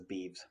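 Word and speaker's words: beeves: of cattle uh but i couldn't remember it was beefs or bevies i don't think i've ever heard anybody say it in conversation it's beebs or at least um the pronunciation line says beavs so we'll go with beavs uh anyway back to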